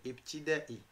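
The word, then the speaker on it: ابتدائي: le professeur Ostad ad le primaire ibtida on n fait l'espace exprès pour prononcer le i tout seul itida normalement c'est un seul mot mais c'est la seule façon de l'écrire en français parce que sinon tu vas le lire itida itida ouais ouais c'est ibtida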